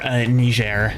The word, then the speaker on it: Niger: country of Niger Niger is also in or ner as it's proper properly pronounced um is also in in Africa kind